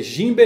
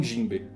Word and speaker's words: Jinbe: Por que o correto é Jinbe e não Jinbe? Entenderam, né? Jinbe com N e não Jinbe com M.